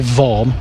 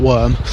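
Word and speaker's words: Nick Worm: We had Chase Owen, a graduate from Formula Ford 1600, Cameron Daz, of course, Nick Vorm, that's how it's pronounced, by the way, Vorm, not Worm, and Jamie Chadwick as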